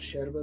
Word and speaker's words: yerba: going to call it sharoba though because that's how it's pronounced in uruguay and then your straw